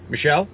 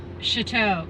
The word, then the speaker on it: Choteau: Michelle? Yep. No, it's Choteau.